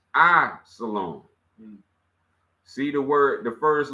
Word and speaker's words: Islam: Hood which is Jewish the other is Islam pronounced I salom see the word the first letter is I